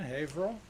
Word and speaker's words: Haverhill: buddy from Mountain View California Jack Ulrich from Haverhill I said it right didn't I Haverhill yeah from back Becky Michael Arthur our good